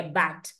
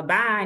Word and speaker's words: Bach: dizer o seguinte é Originalmente tá a pronúncia é Bat como se tivesse um um th um tch digamos assim no no final Bat bate bate né Eh só que aqui no Brasil a gente fala Bá né então Enfim pode